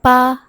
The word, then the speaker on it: 吧: Great, now let's look at the modal particle 吧 (ba). So the modal particle 吧 in this lesson is pronounced with a neutral tone at the end of a sentence.